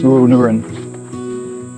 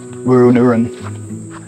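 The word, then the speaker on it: Wooroonooran: And the way that the correct pronunciation for this national park is Wooroonoon. Wooroonoon.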